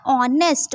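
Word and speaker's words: honest: बट ये sound किसकी तरह कर रहा है? ऑनेस्ट। ओ की तरह। क्योंकि एच हमारा साइलेंट हो जाता है।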